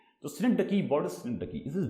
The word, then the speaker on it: synecdoche: हम क्या बोलते हैं, synecdoche। synecdoche, इसका प्रोनाउंसिएशन थोड़ा सा इंटरेस्टिंग भी है और थोड़ा सा ट्रिकी भी है। तो बहुत सारे उसको गलत तरीके से synecdoche पढ़ते हैं, बट इट्स synecdoche है।